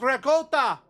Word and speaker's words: ricotta: It's ricotta. It's because calling something in your culture by the proper pronunciation, I guess, makes you feel superior to